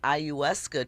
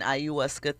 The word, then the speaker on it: ayahuasca: The accuser says that she took an ayahuasca trip. Am I pronouncing that right? Ayahuasca. Okay. I think that it's ayahuasca that she's talking about, which, is a psychedelic mushroom, right?